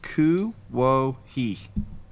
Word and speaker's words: Kuwohi: I want to say Les's name it's pronounced Kuwohi, and it's spelled Kuwohi.